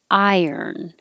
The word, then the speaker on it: iron: it sounds like difference iron so i often tell people to think of i earn or i yearn because you're going up very high when you say the i i vowel iron and then when